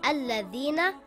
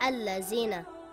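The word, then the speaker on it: الذين: Or this word is pronounced Alladhina and not Allazina.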